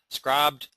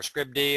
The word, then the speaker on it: Scribd: go over to uh scrubbed or Scribd I'm not sure exactly how you say it it's spelled scrib D but it sounds like it should be scribed but nonetheless this is